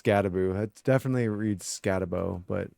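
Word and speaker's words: Skattebo: For running backs, we have Cam Scadaboo, which I still don't understand how that's pronounced Scadaboo. It definitely reads Scadabo, but every time I hear it pronounced, it's Scadaboo.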